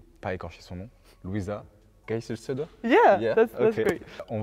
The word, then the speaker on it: Geiselsöder: Geiselsöder. It's not bad, actually. It's Geiselsöder. Geiselsöder.